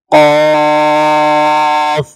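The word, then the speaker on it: ك: মধ্যে উচ্চারণগত পার্থক্য আছে যেমন এটি হচ্ছে কফ আর এই হরফ হচ্ছে কাফ কফ হরফের মধ্যে একটু ভাঙ্গা আওয়াজ হবে আর কাফ স্পষ্ট হবে তারপর হচ্ছে লাম মিম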